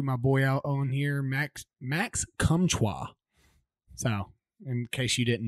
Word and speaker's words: Max Comtois: that you threw my boy out on here, Max Comtois. So, in case you didn't know, that's how it's pronounced.